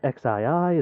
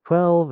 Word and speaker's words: XII: 1200 emails yeah yeah that's how you pronounce it we've had people get confused over is it xii is it 12 is it but it's 12.